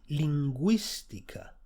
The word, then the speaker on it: lingüística: G-U-I, gui, lingüística, linguistics.